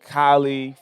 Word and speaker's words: Kylei: We are here with Kylei from one of our title sponsors, Stretchzone. What's going on, Kylei? Speaking of How beautiful are ya? people, Yeah, beautiful people. Kylei, not like Jenner, right?